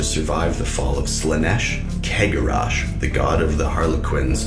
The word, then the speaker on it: Cegorach: However, other people are saying that the C in Cegorach or in Cegorach is like the C in Celebrimbor or Celeborn or all of those C's. Someone else says they just pronounce it cigarette or Sephiroth. The main audio that's official pronounces it Cegorach. However, I've always said Cegorach. I've heard so many different pronunciations, and of course I have my preferred one.